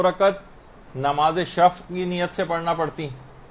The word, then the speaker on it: شفع: شفا نہیں، شفع ہے.